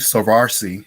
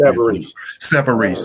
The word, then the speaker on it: Savarese: You said that when you first interviewed with your prior boss there, Savarsi, if I'm pronouncing it right, correct? Savarese. Okay.